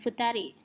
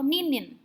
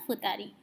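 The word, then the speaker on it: ふたり: Yang berbeda hanya sendiri dan berdua. Hitori dan futari. Mereka mempunyai penyebutan spesial yang berbeda dengan pengucapan sangnin, yongnin, dan angka lainnya. Jadi bukan ichinin atau ninin, tapi hitori dan futari.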